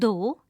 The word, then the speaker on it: though: The word though is pronounced to rhyme with the word low.